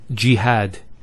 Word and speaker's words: jihad: followed by the Elif next word is jihad so we have here G that's the first syllable and then had jihad so you notice here we have a Fatah on the ha followed by the Aleph and that gives the elongation of the a sound next word Ibrahim so